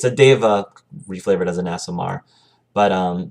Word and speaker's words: Deva: And in 4th edition, it's known as that race is known as a Deva, not Diva. Deva, spelled D-E-V-A.